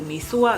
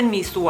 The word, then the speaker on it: หมี่สั่ว: มี ส่วน นั่น เอง มี ส่วน หรือ มี ซั่ว กัน ออก เสียง ของ ภูเก็ต จะ เป็น มี ส่วน แล้ว ทุก คน ซึ่ง